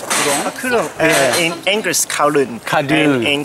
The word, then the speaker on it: Kowloon: And Kowloon, how do you pronounce Kowloon? Kowloon.